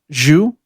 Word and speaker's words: Xu: I think Yanjun is spelled Yanjun. Zhu, which is XU.